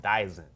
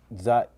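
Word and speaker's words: Dzyan: All right, so we're going into a book called the Book of Dizan. All right. What is the book of Zian? Zian, yeah. Is that? Zian. Zian. Yeah. Yeah. Zian. D is silent.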